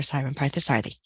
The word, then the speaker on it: Sairam Parthasarathy: Dr Tanya tawitai Dr Andrea folks and Dr Simon partha sathi thank you good morning good afternoon good evening